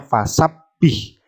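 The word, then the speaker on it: فسبح: Jadi bacanya fasabbih, fasabbih ditekan ya. Baca double, baknya ada 2.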